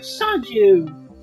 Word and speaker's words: Son-Chu: And by the way, that's pronounced like the Chinese word Sonju. So when you shout Son-Chu, you're saying victory!